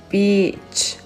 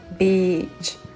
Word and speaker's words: beach: Il faut bien prononcer la voyelle qui est longue, ok, pour pas faire la confusion. So, beach, beach.